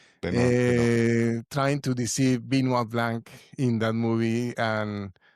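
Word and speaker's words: Benoit: How do you pronounce it? Binoa. Bino Blanc. Okay. Yeah. Trying to deceive Binua Blanc in that movie.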